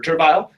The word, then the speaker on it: Turville: How you want to pronounce it. It's Turville. Cool. It's Turville.